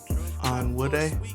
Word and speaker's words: Onwude: how to say my last name on wood a yes you actually pronounced that perfectly thank you thank you I've